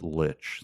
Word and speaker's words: Lich: It's probably pronounced I J, watched like a, the letter. I watched a 10-minute video. It's Lich.